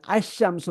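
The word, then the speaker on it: الشمس: wrong എന്തുകൊണ്ട് എന്ന് ചോദിച്ചാൽ ഷംസ് എന്ന വാക്കിന് മുമ്പ് അൽ വന്നാൽ ഷാ ക്ക് ഡബിളിങ് വരണം എന്നതാണ് ഷുറൂഫി ശംസിയ എന്ന്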